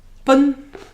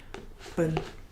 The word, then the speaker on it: 奔: Information or pronunciation. Bun.